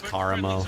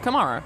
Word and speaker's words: Karamo: It's Karamo. Come That's on. exactly. It's Karamo. Whatever. Absolutely, it is Karamo. Well, Anna, who do you think is the hottest? Kamara.